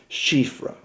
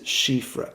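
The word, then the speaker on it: chiffre: ripples throughout television the word in question is shifra and and my French isn't great so I'll spell it for you and then you can then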